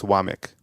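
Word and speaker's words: Wommack: they said it so it's wamic but it's but it's spelled w m m a k but it's wamic that's that's exactly it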